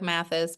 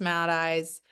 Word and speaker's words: Matheis: Yes, my last name looks like Mathis, but it's pronounced Matheis.